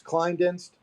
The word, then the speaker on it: Klinedinst: forgetting to ask you is how do you pronounce the law firm you work for you had it right this time it's kleindenst okay and you got it uh yeah i think climb deck bar client.